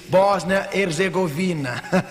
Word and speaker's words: Bósnia Herzegovina: eu fiz esta pergunta como se pronuncia ele me disse Bósnia Herzegovina Muito obrigado para os